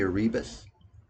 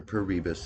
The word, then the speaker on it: Paribas: And these gentlemen, Alfred, Capital, DMB, Asset Management, BNP Paribas, or Paribas, excuse me, I said it wrong.